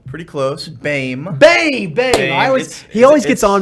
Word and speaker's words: Boehme: But it's pronounced Bame.